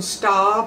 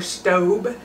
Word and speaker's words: Staub: I'm going to cook it in a pan that comes from staub or staub, however you want to pronounce it.